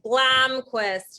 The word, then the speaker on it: Blomquist: I pronounce it with like a Midwestern accent since I'm from Indiana. So it's more like Blomquist, you know, like it's just a real like hard nasally sound.